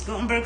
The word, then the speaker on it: Gothenburg: men and women in gothenburg only pronounces gutenberg sweden over an 18-year period